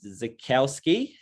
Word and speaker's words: Zaichkowsky: Zaichkowsky. Is that how you have? That's how you pronounce it.